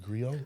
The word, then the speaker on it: griot: Griot. Is it griot or griot? Because it's French. Griot.